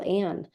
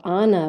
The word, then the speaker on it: Ann: but I know my friends who speak Spanish, the "a" sound in my name isn't a sound that they make in the Spanish alphabet. So Ana would be more comfortable, but my name is pronounced Anne, so they have to practice that.